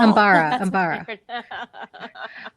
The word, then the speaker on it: Umbara: Oh, Umbara.